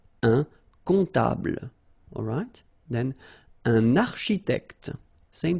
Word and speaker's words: comptable: Un comptable, so OM, remember it goes like on, alright? And then, strangely, this P is not pronounced. Un comptable, alright?